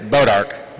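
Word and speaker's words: Bois D'Arc: And I figured it out, and I asked Greg how to pronounce it. It's Bodark, Missouri.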